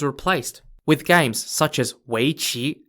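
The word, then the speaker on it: weiqi: the game was replaced with games such as weichi spelt w-e-i-q-i otherwise known as the game go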